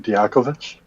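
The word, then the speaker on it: Dijaković: say it uh in croatian it's diacovich probably probably the akovich diakovich and now it's him so yeah that's that's just hey you you learn there you learn it here you learn how to pronounce his name in his own mama language i say it right diakovich yeah the chit is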